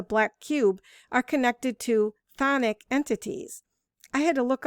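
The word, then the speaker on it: chthonic: cult of the black cube are connected to phonic entities i had to look up the word phonic it's spelled c-h-t-h-o-n-i-c the definition of that word is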